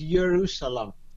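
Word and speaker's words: ירושלים: the word jerusalem means jerusalem in modern hebrew people how you want to pronounce it because they created the pronunciation only recently is yerusalam in arabic is zaru salam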